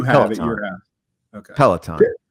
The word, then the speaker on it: Peloton: Peloton. Yeah. Okay. Not pillow time.